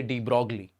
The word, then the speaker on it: de Broglie: I like to say de Broglie.